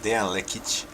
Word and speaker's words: Dejan Lekic: yeah thank you very much my name is Diane leakage when I pronounced that as we are pronouncing it and